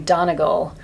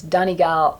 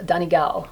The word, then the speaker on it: Donegal: pronounce I was saying Donegal and she said no it's Donnie gal Donnie gal with the stress on the second syllable and Donnie as the